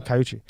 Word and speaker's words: Caiucci: Did I say it right this time? Caiucci. Yeah, we looked it up.